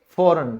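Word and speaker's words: foreign: वो है जी, और यदि जी के बाद एन आता है तो ही जी साइलेंट होता है, जैसे विदेश यानी कि फॉरेन, तो आप इसको बोलेंगे फॉरेन।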